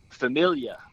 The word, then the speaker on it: famiglia: gelati okay right yeah the g and the l exactly when it's together in the italian language it is silent so if you could think of uh familia it's really it looks like famiglia silence okay so gelati